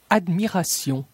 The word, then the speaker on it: admiration: La lettre T dans la combinaison T-I-O-N se prononce comme un S. Admiration, admiration, traduction, traduction, prononciation, prononciation.